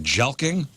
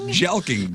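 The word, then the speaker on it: jelqing: is Cally known as have you heard of jelking yeah you've heard of that before oh yeah jeling jelking I got a black belt in it j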